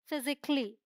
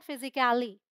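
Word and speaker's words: physically: ये है लॉजिकली, म्यूजिकली, फिजिकली, इट्स नॉट फिजिकली और फिजिकली, फिजिकली, राइट।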